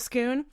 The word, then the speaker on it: Scone: But Scoon is spelled scone. Scone. British scones. Scone or Scoon. Yeah. So anyway, everyone says scone, and I will not say scone.